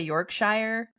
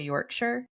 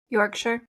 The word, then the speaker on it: Yorkshire: I want to say Yorkshshire, but I'm pretty sure you're supposed to say Yorkshire. Yorkshire.